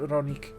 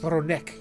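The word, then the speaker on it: Rroneek: bound together through that ronik so too is Roni I'm sorry it's ronik I keep forgetting they they pronounced it R in the cut scene yesterday or two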